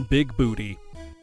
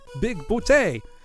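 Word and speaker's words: Bigboote: of them is called John big booty only he keeps insisting it's pronounced bout big bout until uh one character gets so fed up with him saying that that he just kills him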